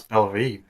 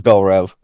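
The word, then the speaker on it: Belle Reve: metahumans exactly okay so I thought it pronounce Bel re no B it is Bel rev so like yeah so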